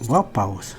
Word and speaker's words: Vapaus: It's Vapaus.